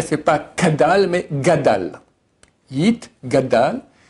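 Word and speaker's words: יִתְגַּדַּל: Yit, gadal, et yit, kadash. Les gens font le contraire, des fois ils disent yit, kadal, et yit, gadash. Ça va pas.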